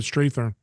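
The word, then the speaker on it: Strathairn: Talk about collaborating with your Williams College buddies, John Sayles and David Strathern. Yes, it's Strathern actually. Strathern. It's the most mispronounced name in My name on gets mispronounced all the time, and I IMDb.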